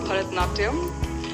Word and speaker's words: Bharatanatyam: Help me pronounce it and show us a few steps. Well, it's called Bharatanatyam.